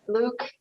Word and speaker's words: Luc: is actually for me his name is luck so we're a french canadian so um it's spelled with a c because it's the francophone spelling um so i say you say luke and that is perfectly fine um and what we're